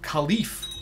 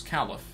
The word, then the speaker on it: caliph: so by the way I've been pronouncing Khalif in a very effective way it's it's Caliph this is Caliph nobody